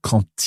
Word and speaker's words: quand: So when we have quand followed by a vowel, the D on the end is pronounced, but it's pronounced as a T. So quand il est venu payer